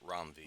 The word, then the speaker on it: Ram V: I keep saying Ram. I hear Rom. I think I used to say Ram. Mm-hmm. But I heard him in enough interviews or people talking about him, and they were pronouncing it Rom V.